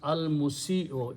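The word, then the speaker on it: المسيء: Al will remove one pesh or one dhamma, and for correct pronunciation we just change this way. So it becomes al musi'o, easy pronunciation.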